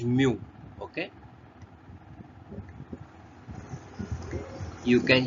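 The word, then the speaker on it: μ: as the mu okay this is being pronounced this is pronounced as mu okay you can say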